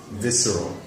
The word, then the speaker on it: visceral: So the SC just makes S sound, you know? Visceral. Yeah. The R and the L are close together, so it's going to be a little difficult for some people to pronounce.